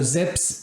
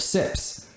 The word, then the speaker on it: ZiPS: a z and so he calls his projection system Zips instead of sips uh and frankly that